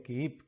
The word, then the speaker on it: Kyiv: 100 kilómetros al norte de Kiev, o de Kyiv, como se pronuncia, cerca de la frontera con Bielorrusia, estalló uno de los reactores nucleares.